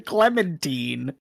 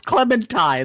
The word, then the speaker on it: Clementine: what you mean what you keep saying Clemen it's Clementine like the orange Clementine so thank you so